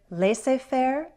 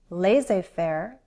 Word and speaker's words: laissez-faire: Again, let's go over some variations in pronunciation. I've heard laissez-faire, laissez-faire, and laissez-faire.